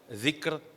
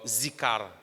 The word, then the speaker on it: ذِكْر: Et Mauricien l'y prononce par zikar, de faire azkar, qui n'est pas supposé prononcer comme ça. Dhikr, nous l'y lit dans bout de la langue.